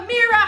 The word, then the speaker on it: Ameerah: And also, if you don't know who the heck I am, I'm Ameerah. Hi, it rhymes with Shakira.